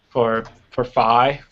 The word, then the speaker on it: phi: I normally do phi as in pi. So Phi.